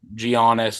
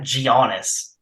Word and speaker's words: Giannis: Durant, all these big, Giannis, all those guys on the same court at the same time. It's obviously cool. What? It's not Giannis. What is it? Giannis.